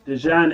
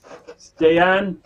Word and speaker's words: Dejan: aces we block kings i've been told my pronunciation of the player dejan is off again stay on can anyone confirm this